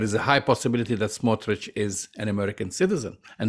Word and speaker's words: Smotrich: Ukraine from the town of smotrich same pronunciation except the I replaced the eye with the Y and there is a